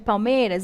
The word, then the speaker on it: palmeiras: A sílaba tônica de palmeiras. Bora verificar. Olha, palmeiras. Palmeiras. Qual é a sílaba tônica de palmeiras? Ó, é o meio, certo?